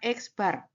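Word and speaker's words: x̄: Dibacanya X bar. Ya, bacanya X bar itu adalah sampel mean.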